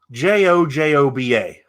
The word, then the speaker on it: jojoba: word out to you and you need to pronounce it j-o-j-o-b-a jojoba okay do you have a piece of